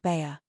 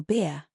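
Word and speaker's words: Bhaer: It isn't pronounced either bear or beer as people will say it, but something between the two as only Germans can give it.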